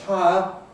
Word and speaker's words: higher: If we take the 2 words higher, that is higher rent, H-I-R-E, and higher, more high, H-I-G-H-E-I, they are usually homophones for most people, and we can make a difference if we want.